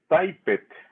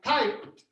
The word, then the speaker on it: typed: you do yesterday i type it remember the sound letter t so what is it gonna sound like at the end i typed type i type i